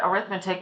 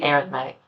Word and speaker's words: arithmetic: an arithmetic sequence it looks like the word arithmetic but for some reason for sequences we print pronounce it slightly differently we say arithmetic an arithmetic sequence is actually a linear function